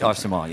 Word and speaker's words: Arcement: It's spelled A-R-C-E-M-E-N-T. Arsement. It's Arsement, yeah.